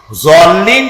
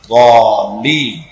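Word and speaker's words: الضالين: সেই জন্য জল্লিন যদি কেউ পড়ে তাহলে নামাজ অশুদ্ধ হয়ে যাবে। এটা দল্লিন গায়রিল মাগদুবি আলাইহিম ওয়ালা দল্লিন, দালও না আর জও না, উচ্চারণ হবে এর মাঝখান দিয়া, দল্লিন।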